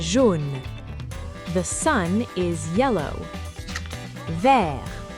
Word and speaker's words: vert: Vert, vert. Green. The T is silent.